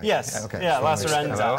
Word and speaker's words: Lacerenza: You know I did that so I didn't butcher the name, right? Yes. Okay. Yeah, So Lacerenza. Lacerenza.